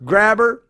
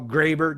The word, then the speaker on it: Grabher: Well, Graber, depending on how you want to pronounce it, right? It's a German guy, German descent. Well, he's Canadian, but of German descent, and his last name just happened to be Graber or Graber, depending on how you pronounce it, Grabher.